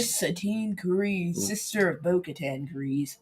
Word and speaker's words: Kryze: They think she's Satine Kryze's sister, Bo-Katan Kryze. Right. So, it's not Kryze, it's Kryze. Well, it honestly depends.